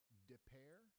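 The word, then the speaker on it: Des Peres: Depair?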